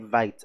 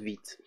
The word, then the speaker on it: Vite: So if you come to vitejs.dev, I like to call it Vite actually, but it's pronounced Vite.